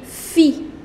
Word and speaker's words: filles: However, you will not pronounce that S. So la fille, and the plural is les filles, the girls.